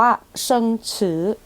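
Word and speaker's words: 生词: ใหม่ ใน บท เรียน เรา จะ อ่าน ว่า เชิง ฉือ เชิง ฉือ คำ ศัพท์ ใหม่ ใน บท เรียน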